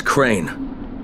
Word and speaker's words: Crane: no my name is crane crane crane rhymes with train and brain and sane and gray and rain and plain and the other kind of plane and and can I